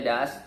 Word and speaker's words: does: Nah, does, tulisannya D-O-S, does, bacanya does.